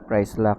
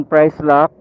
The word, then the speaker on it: Pricelocq: So, successful tayo dito sa ah se oil na merong price lock. Price lock. I think yun ang pag-pronounce niyon kasi iba yung spelling.